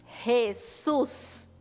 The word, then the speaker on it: Jesús: el nombre de jesús fíjate que en la sílaba shoes hay una mayor fuerza que decimos cuando decimos el nombre de jesus eso es porque tiene una tilde en la o fíjate jesús algunos nombres llevan tilde y eso es porque se hace mayor fuerza en esa sílaba ahora quiero que me